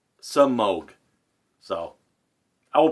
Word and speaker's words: Semogue: he - whoa so I always called to smoke but it's actually you know some oak so I will pronounce